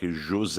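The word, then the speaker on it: José: correct you his portuguese so the name is jose just like jose okay i thought i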